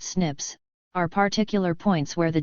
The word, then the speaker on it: SNPs: satellites single nucleotide polymorphisms or or snps pronounced Snips are particular points where